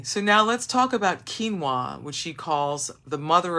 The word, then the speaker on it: quinoa: But many will not be familiar with quinoa pronounced well it's spelled qu u i n o but it's pronounced quinoa although it is one of the healthiest and oldest foods around.